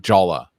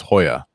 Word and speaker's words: Jolla: It looks like Jolla, but to pronounce it in Spanish, it's Jolla.